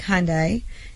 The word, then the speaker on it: Hyundai: that even happen he was driving a black Hyundai and they said he was what what was